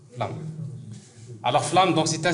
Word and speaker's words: Flume: Alors, pour le prononcer, c'est Flamme. Flamme.